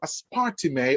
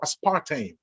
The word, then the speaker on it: aspartame: is the one that's called aspartime or aspartame depending on how you want to pronounce it now notice this